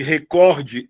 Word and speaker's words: recorde: A sílaba tônica de recorde é o core. A sílaba tônica de rubrica é o Bri. Aí o que que as pessoas fazem? Elas colocam recorde e rúbrica. E aí isso é um erro.